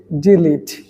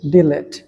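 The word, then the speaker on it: delete: সেটাকে আমরা অনেকেই বলি ডেঙ্গু আসলে এটার সঠিক প্রোনাউন্সিয়েশন হচ্ছে ডেঙ্গি এটা হচ্ছে ডেঙ্গি নাম্বার টু হচ্ছে ডিলিট এই শব্দটাকে আমরা অনেকেই বলি ডিলেট কিন্তু এটার সঠিক উচ্চারণ হচ্ছে ডিলিট।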